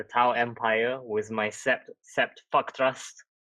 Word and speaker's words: Fa'kth'rast: I am representing the Tau Empire with my Sept Fa'kth'rast, spelt with a bunch of apostrophes because there's children in the store.